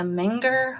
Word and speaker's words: Menger: right the beginnings of the minger hotel am I saying it right Mel yes he said you are all right you want